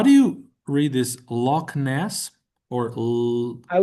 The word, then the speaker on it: Loch Ness: I would give that H uh some play lness, you know.